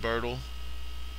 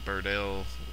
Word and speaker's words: Birdle: My Big Birdle, you can see how it's spelled on my channel name there. A lot of people would pronounce it Birdell, which drives me out of my mind, but whatever.